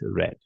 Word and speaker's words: read: father read newspaper yesterday red the spelling is r e a e but pronunciation is red okay so pay attention